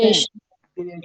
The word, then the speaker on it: chelation: Chelation. किलेशन। ठीक है, इसको हम बोलते हैं किलेशन।